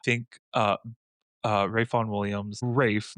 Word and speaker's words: Ralph: I think uh uh Rayon Williams, Rafe, not Ralph.